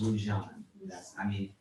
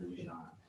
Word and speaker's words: Lujan: Yeah, and it is pronounced Lujan.